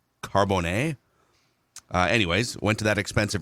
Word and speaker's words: Carbone: went to, in Minnesota, we would call it Carboni, like the pizza place. This is like the 5-star restaurant you can find in New York City, Miami, Las Vegas. I believe it's pronounced Carbone.